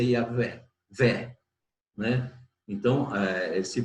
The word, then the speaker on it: Yahweh: Então, a pronúncia ficou Yahvé. Não pode ser Yahweh, porque o V, o W, não é a letra inglesa que tem som de U. É a letra hebraica que tem som de V.